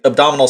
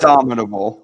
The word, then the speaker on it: abominable: Okay, so it looks like the abdominal snowman. Abdominal snowman? Cool. So he's just so he's a stomach snowman. Yes. The how do you say it? Abominable. Abominable. Okay.